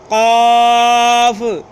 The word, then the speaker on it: قاف: کلکلی آواز کے ساتھ۔ قاف، قاف، قاف، اس کو کلکلی آواز کے ساتھ پڑھنا ہے۔ آپ نے تھوڑی سی محنت کرنی ہے، اس پہ زور لگا کے اس کو پڑھنا ہے تاکہ اس کی جو آواز ہے، تلفظ ہے، وہ صحیح نکل آئے۔ قاف، قاف، اس